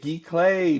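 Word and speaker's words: giclée: are canvas Glee K G clay paint uh uh versions for 185 this is a canvas G clay that's how you say it g clay and if you want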